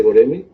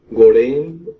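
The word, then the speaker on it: Göreme: Pues bueno, como ya comentaste, vamos a hablar del Valle de Goreme, o Gorén, o Guruen, también. Tiene unos, o sea, su pronunciación como es turco, Sí. de repente varía mucho, y bueno, tiene varias pronunciaciones ahí. Depende también de las, ahora sí, del país que lo visite, ¿no? O que lo pronuncie.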